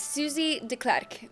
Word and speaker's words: Susie Deklerk: Yeah, yes, Susie Deklerk.